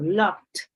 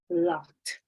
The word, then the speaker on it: loved: And then we say, often this creates problem with ed verb endings, meaning words like worked or loved may be pronounced work or love. And it's not the same. It's worked, loved.